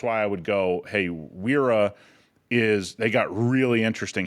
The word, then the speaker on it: Wera: And that's Wera, I believe, right? For people that Yeah. I think it's I think it's like Viera is actually the how you pronounce it, but I I'm Viera?